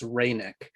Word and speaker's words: Reinach: reineck uh once again we're not even sure how he pronounced its name it's our best understanding it's reineck uh he was a